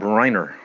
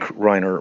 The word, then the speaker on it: Reiner: But um like just to keep it topical, we recent case here of um the murder of Rob Reiner. I presume I think I'm I'm pronouncing that right.